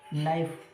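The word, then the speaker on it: knife: हम लोग कहते हैं कि साहब के को नहीं पढ़ते हैं, लेकिन फिर भी के को वर्ड बनाने के लिए हम लोग यूज़ करते हैं। इसका मतलब क्या होता है कि इसका पूरा स्पेलिंग का मतलब नाइफ, नाइफ सुना, नाइफ जो चाकू होता है उसके लिए आता है, तो नाइफ आता है। के का हम यूज़ नहीं करते, ठीक है, के का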